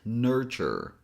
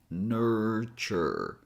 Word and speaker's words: nurture: And number three, the last thing you have to pay attention here is that this word looks like it has three syllables, but it actually has two syllables. So we only have nur and chure.